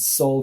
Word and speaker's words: Seol: Mike and Soul Comics. Her name is spelled Seol.